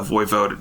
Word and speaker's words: voivode: And then through some shenanigans, there's going to be a lot of shenanigans, he becomes the voivode of Wallachia. Voivode means prince, but is actually like king, Yeah, I can't believe that really is how you say that word.